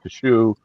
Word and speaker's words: cache: Cash. How you say it? C A C H E. Cash. Yeah, that that's how I say it. But I've heard cashache kashe.